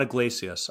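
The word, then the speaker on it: Yglesias: And it's an article by Matt, is it Iglesias? Is that how you say it? Yeah, Matt Iglesias. I know you struggle pronouncing names, so I'm glad I can step in and help you here.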